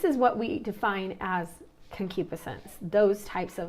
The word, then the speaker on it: concupiscence: wrong I'd apologize but I believe it's pronounced concupiscence and concupiscence is the intense